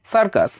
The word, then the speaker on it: সার্কাস: একইভাবে দেখুন, আবার দেখুন CIRCUS, উচ্চারণটা কি হয়? সার্কাস। দেখুন এখানে সির পরে যেহেতু আই রয়েছে, সেই ক্ষেত্রে প্রথম সির উচ্চারণটা কিন্তু শ এর মতো হলো।